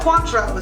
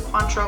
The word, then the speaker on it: Cointreau: cleaner flavor okay and I'm gonna let you pronounce this one uh Cointreau so you want an orange liqueur so Cointreau